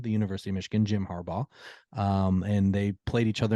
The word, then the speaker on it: Harbaugh: Harbaugh. Just Harbaugh. Not Harbaugh. Bog. Bah.